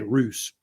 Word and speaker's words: Rus: Some people say Rus. It's usually pronounced Rus, R-U-S.